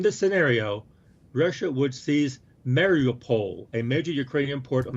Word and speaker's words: Mariupol: It says Russia should, in this scenario, Russia would seize Mariupol, a major Ukrainian port on the Sea of Azov. Where's that? Right here. How do you pronounce that? Mariupol.